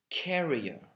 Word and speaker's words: carrier: have carrier c-a-r-r-i-e-r and the main difference is that the first one is uh has the stress on the first syllable on the second syllable sorry career and the first one and the second one on the first syllable carrier okay your career is